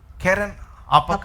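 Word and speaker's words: Keren-happuch: రెండవ దానికి కెజియా అనియు, రెండవ దానికి కెజియా అనియు, మూడవ దానికి హపకు అనియు, కెరన్ హపక్ or apak, h is silent. కెరన్ అపక్ అనియు పేర్లు పెట్టెను.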